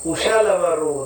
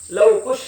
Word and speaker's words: ಕುಶಲವ: ಅರ್ಜೆಂಟಿಗಲ್ಲ ಪೂರ್ಣಜಂಟಿಗೆ ಏನ್ ಮಾಡ್ತಿರ್ತೀವಿ ಲವಕುಶ ಲವಕುಶ ಲವಕುಶತ ಲವ್ ಕುಷ್ ಅಂತ ಹೇಳಿಬಿಡೋದು ಯಾರಿಗೆ ಲವ್ ಆಗಿ ಯಾರಿಗೆ ಖುಷಿ ಆತೋ ಯಾರಿಗೂ ಗೊತ್ತಾಗಿರಬಾರದು ಪುಣ್ಯಾತ್ಮರಿ ಹಂಗೆ ಹಿಂಗೆ ತಪ್ಪು ಉಚ್ಚಾರಣೆ ಬರಬಾರದು ಲವ ಕುಶ ಅಲ್ಲ ಕುಶಲವರು ಅಂತ ಹೇಳಬೇಕು ಇವರಿಬ್ಬರು ಯಾರ ಅವತಾರ ಅಂತ